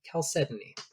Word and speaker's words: chalcedony: also morphed over time, we kept one hard C sound, but then the other became soft, and so it became chalcedony.